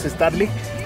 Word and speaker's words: Estarlig: la familia sonido starlick que creo que yo lo pronuncia mal lo pronunciaba con una n al final pero no es starlick Y bueno pues aquí